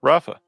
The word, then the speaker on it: Rafa: We got, is it pronounced Rafa? Yeah, Rafa. Rafa, what's up?